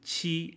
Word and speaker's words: qi: So G is like jeep, chi is like cheap, and X is like sh in sheep.